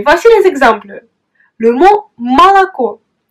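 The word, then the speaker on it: молоко: Mais dans le cas où l'accent frappe une autre voyelle, tu dois prononcer la voyelle O comme A. Et voici les exemples. Le mot malako. Malako.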